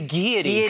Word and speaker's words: Gaiety: It's a Gaiety. The Gaiety Theatre. I'm mispronouncing it. What are you calling it? The Gaiety. Because I'm American. The Gaiety. Is that wrong?